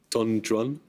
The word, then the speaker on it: Don Juan: The poet makes the 2-word name of the title figure rhyme with new one and true one. Imperial El Kubi. Don Juan.